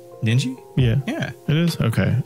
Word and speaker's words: Ninji: Ninji?